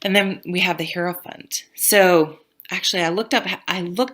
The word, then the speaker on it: hierophant: you for things and then we have the herant so actually I looked up I looked up online how to pronounce this it's like hierophant that's what it says I I hear it